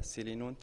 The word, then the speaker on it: Selinunte: d'autres pays d'autres villages je suis aujourd'hui à céline honte et c'est comme ça que ça fera se prononce donc j'ai fait un tour en sicile